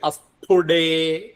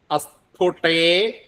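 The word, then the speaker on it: അസ്ഫുടേ: പ്രയോഗിക്കണം അത് കഴിഞ്ഞിട്ട് വരുന്നത് ടെ എന്നുള്ളതാണ് ടെ എന്ന് പറയുമ്പോഴും കരമാണ് അത് മൃതു ആവരുത് അസ്പുടേ സാധ്യതയുള്ള ഒരു ഇതാണ് നമുക്ക് മാറിപ്പോകാൻ അസ്പുടേ അതല്ല അസ്പുടേ അസ്പുടേ അങ്ങനെ തന്നെ വെച്ചിരിക്കണം അസ്ഫുട്ടേ അടുത്തത് വപുഷി അസ്ഫുട്ടേ വപുഷി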